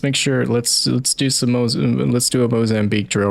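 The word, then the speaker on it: Moçambique: Alright, let's make sure, let's do a Mozambique drill right here. Go ahead and put 3. 3 in him. Make sure he doesn't get up again. Or Mocambique, as it's actually pronounced.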